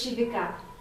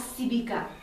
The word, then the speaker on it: Shyvica: evening to you all my name is Shiva mostly mispronounced as sebeka I've spent all my